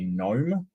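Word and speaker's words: Noem: of Kirsty gnome um it's not spelled like you know small people that that bubble gum gun uh thinks exists but it it's it's a right-wing politician under the name of gnome n OEM um hello everybody hello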